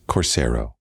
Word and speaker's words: Corero: last name fair enough my last name is pronounced corero corero okay give us a little